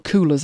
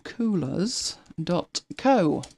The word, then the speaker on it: Coolors: palette to Colours, well, Coolors I suppose it's pronounced with double O, and have a look at it in there.